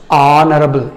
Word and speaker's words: honorable: Next, an honorable man, here h is silent. ఇక్కడ h అనే శబ్దము సైలెంట్ అయితే అది మనకి వావల్ సౌండ్ అవుతుంది. నాట్ హానరబుల్, ఆనరబుల్, ఆనరబుల్ అని వస్తుంది.